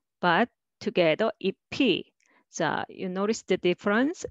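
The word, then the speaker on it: 잎이: And next is ip, E, but together EP.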